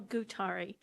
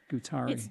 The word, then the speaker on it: Gutari: that I can read it and if you pronounce it too that'd be great sorry yes my name is gutari gutari g-u-t-a-r-i thank you and I live in Highlands